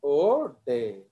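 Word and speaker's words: Oudet: It is pronounced as O'Day.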